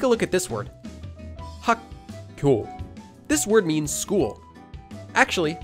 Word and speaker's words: 학교: Instead of saying just 학교, you're actually saying 학교. Naturally, just by saying 학교, you're already saying this sound change rule.